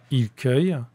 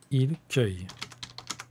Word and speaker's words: cueille: la lettre c mais la lettre c se prononce ce devant le y je n'entends pas le son que dans ce mot il cueille j'entends le son que à cet endroit là il cueille et note que pour